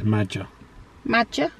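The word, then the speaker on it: Maja: Jax it's m a j a so it's magic yes so wish we got your name wrong there I think it's magic okay obviously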